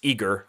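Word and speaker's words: IGRR: We've got, I only know how to pronounce his handle. It's Igor, I-G-R-R, who works at Espressive.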